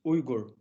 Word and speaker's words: Uyghur: Nowadays it's been began to use Uyghur. Uyghur. So we can pronounce Uyghur.